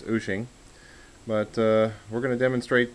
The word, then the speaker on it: Wouxun: to d by whooshing a lot of people call it walks on and the correct pronunciation according to the website is ushing but we're going to